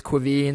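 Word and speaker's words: Caoimhín: yeah so it's it's Quine so it's it's it's a tough one it's an Irish pronunciation so it's it's like real like GIC Irish basically but um yeah K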